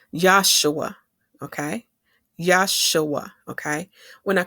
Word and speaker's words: Yeshua: this verse because in the 1611 Bible, Yeshua is spelled I E S H U A. But in the Hebrew, we would say Yesua.